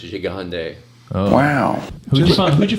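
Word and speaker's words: Gigandet: found out last night his name is pronounced jande oh wow you who'd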